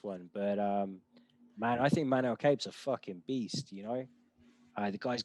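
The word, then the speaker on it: Manel Kape: Up next, we've got Manel Cape. I'm too used to kind of watching this guy's name pronounced by Japanese announcers and journalists. So yeah, I'm pretty sure the pronunciation is Manel Cape, but it's been Cape.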